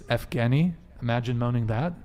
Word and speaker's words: Yevgeny: It's Evgeny. Imagine moaning that. How do you say that? Yeah, I dated the guy with that name. Evgeny. Yevgeny.